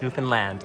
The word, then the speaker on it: Newfoundland: I would say Newfoundland. It's Newfoundland. Like Disneyland.